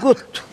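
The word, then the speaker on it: gud: Onun okunuşu gut. Gut işareti daha sonra hece olarak kullanılıyor. Mesela bir yerde kutçuyu hece olarak kullanılıyor.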